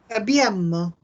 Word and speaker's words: abbiamo: Ojo a las dobles en la pronunciación. Abbiamo. Abbiamo. No tiene doble M, tiene doble B. Abbiamo.